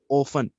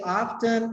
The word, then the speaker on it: often: pakistan and here people mostly used to say often they don't speak the sound of tea they